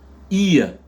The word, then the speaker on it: ear: Ici, vous avez une oreille, ça se dit ear. Ear, pourquoi? Parce que les deux voyelles EA sont prononcées avec la diphtongue IA.